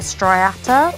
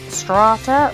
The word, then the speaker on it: striata: This is my Poecilotheria striata, or strata. Some people pronounce it differently.